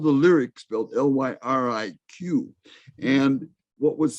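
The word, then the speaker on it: Lyriq: all-electric i think it's 2022 model l and it's spelled it's called the lyrics built l-y-r-i-q and what was significant i believe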